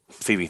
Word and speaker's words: Phoebe: I've not seen Afterlife, so I don't know how to pronounce the name. Phoebe, thank you.